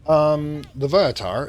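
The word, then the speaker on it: Loviatar: Levitar, as it's pronounced here, is the goddess of pain within the Forgotten Realm.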